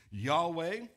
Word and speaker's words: Yahweh: up four Hebrew letters, and then we've put the vowels in there so that we're able to pronounce it a little better, and we can pronounce it Yahweh.